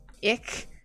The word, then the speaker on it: ich: Ich is pronounced like you're hissing. Well, I've tried to do some hissing, but my hissing is quite quiet. And with a dry mouth, it doesn't sound like anything.